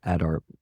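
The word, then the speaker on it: Adare: I say Adair, but also I have a American accent, so I don't know if it's a little different or not, but yeah, shout out to him.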